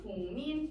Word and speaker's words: 국민: 이 기억이 비음이 아닌 자음이 비음인 미음을 만나서 결국 발음이 어떻게 변하냐면 국민 이렇게 변하죠.